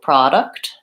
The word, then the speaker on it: product: my vowel sounds so product has first syllable stress productivity or productivity I think I say productivity productivity has provide a third syllable stress and production as second syllable stress production so those are